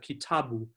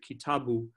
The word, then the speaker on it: kitabu: So in Swahili, we have kitabu. You'd never say something like mm-hmm. kitabu or kitabu. Mm-hmm. So Swahili pronounces it kitabu, but rather than an